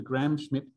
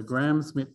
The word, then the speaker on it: Gram-Schmidt: I don't think there's a D. I don't know how many letters, silent letters there are in Gram-Schmidt. It is DT, damn it. All the silent letters. The M is silent too.